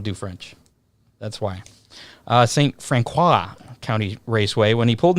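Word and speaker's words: St. Francois: uh saint i don't even know how to pronounce that county raceway f-r-a-n-c-o-i-s that's french i don't do french that's why uh saint francois county raceway when he pulled into the infield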